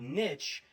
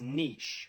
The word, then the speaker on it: niche: Then there's one of the most famously mispronounced words ever. It's not niche, it's niche.